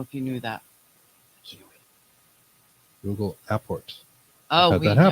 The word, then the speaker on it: apport: that he talks about Apports. We always say it wrong. It's not airport. No, It's Apport.